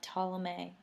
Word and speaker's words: Ptolemy: You'll have Ptolemy. I know it says a P, but the P is silent. Ptolemy will take over Egypt.